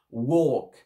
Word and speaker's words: walk: We had a wonderful walk. Pas walk. Et comme je vous avais dit tout à l'heure, le L ne se prononce pas.